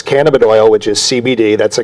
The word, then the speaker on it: cannabidiol: And it's CBD means cannabidiol.